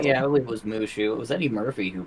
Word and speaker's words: Mushu: No So Mushu.